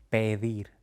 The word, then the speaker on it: pedir: Nada, pedir, verdad.